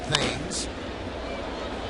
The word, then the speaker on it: Thames: Here's Eric Thames, spelled like Marcus Timms spells his name, but pronounced Thames.